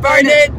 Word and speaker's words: Burnet: We're finally on the road to Burnet or Burnet, how do you pronounce Burnet. It? Burnet.